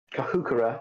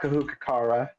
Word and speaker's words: Kahukura: Kahukura, not Kahukara, which I don't know where that extra vowel comes from, but whatever.